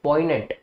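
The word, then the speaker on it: poignant: ऐसे ही heart felt, जिस चीज को आपने दिल से महसूस किया बहुत डीपली, या फिर पॉइनेंट, ठीक है, इसमें जी प्रोनाउंस नहीं करना आपने, पॉइनेंट, तो पॉइनेंट वही चीज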